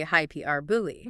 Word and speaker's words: hyperbole: Except hyperbole uses the hyper from hyperlink, but stresses the second syllable, high key r e r, and the ending is booley, rhyming with the word believe without the v, h y p r booley.